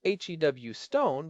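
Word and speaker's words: Huston: And that is why the work of people like Jeff Houston, pronounced HW Stone, by the way, not like the city at so important.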